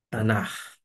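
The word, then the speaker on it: Tanach: n a c h tanar e por fim esse esse c que seria um som de c alemão é do e ou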